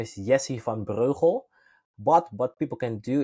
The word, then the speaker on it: Breugel: I try to pronounce my surname it's pretty hard it's super Dutch so my my full name is yes if I'm brojo but what people can